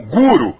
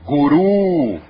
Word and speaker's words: guru: Como Guru é pronúncia inglesa. Como Jai é pronúncia inglesa. Na pronúncia original é Mudra. É Jaya. É Guru.